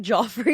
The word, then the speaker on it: Joffre: Say it like Joffre. Yeah, you're supposed to say Joffre. Yeah, it's like it's I know I'm technically I would just say Jeff, but it's Joffre if you're fancy.